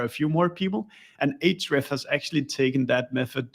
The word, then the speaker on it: Ahrefs: speaking people read it, they either say Ahrefs or Ahrefs. So yeah, I'm not sure what's the grammatically correct, but the way we No. pronounce it at our company is Ahrefs.